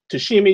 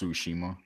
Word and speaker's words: Tsushima: punch game ghost of to see me you said Gary that's the name of it yeah it's pronounced Tsushima you see okay see